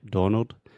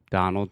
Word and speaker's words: Donald: people want to say, most of my students want to say Donald, but it's da, just like prato chato. Donald Trump.